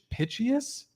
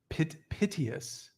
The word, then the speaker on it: piteous: Pitchious, like pitch, EOUS. Yeah, Piteous.